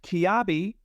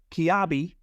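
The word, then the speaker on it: Kiabi: podcast cotton companion uh the French fashion brand kabi and I'm going to give a big shout out to Jim stman for giving me a pronunciation guide on this kabi is the newest member at the US cotton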